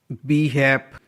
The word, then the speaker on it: behalf: BHAF, BEHALF, यहाँ पर भी LF का कॉम्बिनेशन है जिसमें L साइलेंट है.